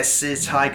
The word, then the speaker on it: SiCai: Now, the name SiCai, by the way, it's actually pronounced SiCai.